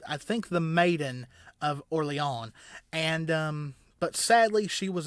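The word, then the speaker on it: Orléans: So, she is most famously known for helping the French win the siege of, it looks like Orleans, like New Orleans, but it is, I think, pronounced Orleans or something like that.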